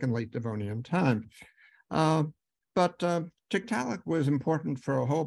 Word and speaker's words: Tiktaalik: How do you pronounce the name? Tiktaalik.